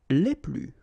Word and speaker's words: les plus: Okay, so keep in mind that I don't pronounce this final S here, so we get le plus, la plus, les plus.